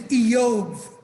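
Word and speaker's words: איוב: His name is Eov. But they call him Job.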